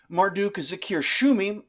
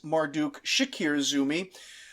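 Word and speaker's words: Marduk-zakir-shumi: successor to the throne Marduk Zakir shumi who I seem unable to stop mistyping and mispronouncing as Marduk Shakir Zumi is our hero here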